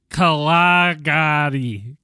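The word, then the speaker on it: Kgalagadi: I'm sure that's how it's pronounced. One more time. Real good. One more time, Real please. nice. Kalagadi.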